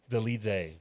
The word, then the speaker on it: Deitz: Deitz.